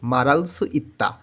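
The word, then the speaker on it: 말할 수 있다: কোরিয়ানরা যখন এই কথাটা দ্রুত বলবে তখন উচ্চারণটা হয়ে যাবে মারালসু ইত্তা, অর্থাৎ ওরা যখন দ্রুত উচ্চারণ করে তখন উচ্চারণের নিয়মের মধ্যে কিছুটা পরিবর্তন হয়ে যায়।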